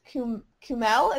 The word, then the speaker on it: Kumail: It's Kumail. Yeah, Kumail Nanjiani. Yeah. You said, I like, can't you pronounce said his name.